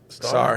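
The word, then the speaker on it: Sarr: Sar. not Sar. S-A-R-R. I don't think you pronounce the T, but I think it's spelled star.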